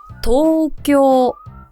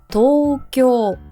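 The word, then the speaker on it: 東京: 들어서 1번에 수도가 어디죠 도쿄 한글로 표기를 하기 때문에 이거를 보고 그대로 발음을 하면 절대 안 되죠 도쿄 도쿄 이거는 심지어 장음이 두 번 있는 거예요 토쿄 길게 해주시고요 그리고 두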